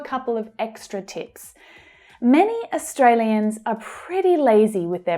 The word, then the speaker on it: Australia: Australia. So the main stress is on the second syllable, A. That's the A as in day vowel sound.